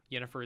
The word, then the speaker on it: Yennefer: Yennefer is missing. Her name's Jennifer. You're mispronouncing Sorry, it.